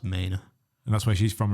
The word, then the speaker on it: Manor: I was calling it like manor, as in, like what Danny Dyer would call a house. Yeah. But apparently it's pronounced Maine.